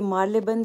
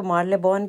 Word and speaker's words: Marylebone: करना होता है और पहले मैं इसको मर्ले बन कहती होती थी तो लेकिन आज